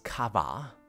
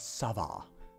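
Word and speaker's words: ça va: saw you shouldn't uh it's written as kava but it's pronounced as Sava when you have this little thing down here but that's that's just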